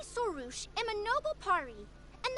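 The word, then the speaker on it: Sorush: And that's how it's pronounced. You know this red floating being? Excuse you! I, Sorouche, am a noble Pari, and the Bloom Guard of Quarina.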